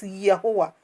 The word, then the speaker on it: Yahuwah: Eh Yahweh, kumama, Yahweh, Yahweh, kumama. I flows. My spirit, just get along. Even though it's being pronounced in other way, it is Yahuwah.